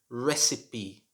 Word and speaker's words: recipe: i've bought number three this word should be pronounced recipe recipe should not be pronounced recipe or recipe